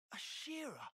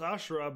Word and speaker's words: Ashera: colony 11 then you're Shira I thought it was ashra but I know Ashraf from one piece and that's not how it's spelled I was wrong why in the Queen's